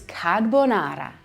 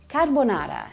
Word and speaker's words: carbonara: And the most classic dish to use guanciale or pancetta is carbonara. Carbonara, not carbonara, carbonara. This Roman classic pasta is made up of eggs, pecorino romano cheese, and guanciale. Carbonara.